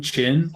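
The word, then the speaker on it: Qin: figure I I finally learned how to pronounce Quinn chin that's the right pronunciation yet I can [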